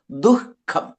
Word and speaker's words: ദുഃഖം: നമ്മൾ ദുഃഖം എന്നിട്ട് വായു വിസർജിക്കപ്പെടും ദുഃഖം അവിടെ.